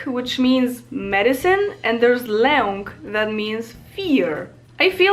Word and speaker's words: lęk: There's lek, which means medicine, and there's lęk, that means fear.